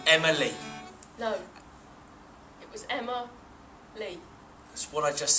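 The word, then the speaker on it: Emma-Lee: it with a hyphen you don't say Emma hyphen me you say Emma Lee leave a pause Emma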